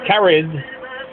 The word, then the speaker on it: Caraid: born in gallay M O'Brien her first name carad pronounced carried is the old Irish word for friends moved